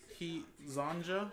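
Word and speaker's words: Hezonja: He's Johnza. He Zonja. That's how you say it.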